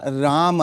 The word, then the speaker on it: राम: अगर म के नीचे हलंत होता तो राम होता। म के बाद आ की मात्रा होता तो रामा होता। हम लेकिन सिर्फ म है मतलब राम। तो एक्चुअली संस्कृत का करेक्ट उच्चारण है राम।